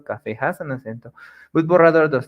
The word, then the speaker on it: borrador: Agudas is when the last syllable is the stress syllable or la sílaba tónica, the last syllable. Like in the examples we have here, colibrí, the strong sound, it's at the end, brí, colibrí, jabón, jabón, borrador, borrador y café, café.